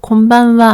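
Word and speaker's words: こんばんは: 하는 마루 발음합니다 그리고 곰방와 할 때는 마름이 뒤에 바의 영향을 받아서 입이 닫히기 때문에 우리말로는 받침 미음처럼 콧방울 이렇게 입이 닫힙니다 그리고 자기 전 인사는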